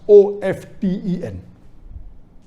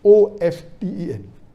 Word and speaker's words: often: T is not silent, it should be pronounced. Some say T is silent, and then there's a big debate for that.